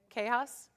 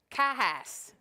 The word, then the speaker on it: Cahas: Kahas. Okay. I was like, oh, I need to outsource how to pronounce this thing before I go Kahass.